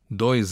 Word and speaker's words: dois: The S at the end of dois in dois anos is pronounced Z because it's between two vowels.